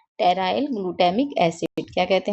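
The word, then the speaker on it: pteroyl: और इंग्लिश में हम इसको लिखते हैं टेराइल में हमारा पी जो होता है वह साइलेंट होता है।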